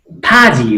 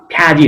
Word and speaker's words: फाजी: फ्याजी अब ऋण तिर्यो ए छे फाजी हो फ्याजी होइन फाजी तिर्यो न्योबा साबा बहुलाएको कतै